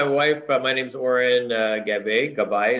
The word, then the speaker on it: Gabbay: Gabbay is the proper pronunciation.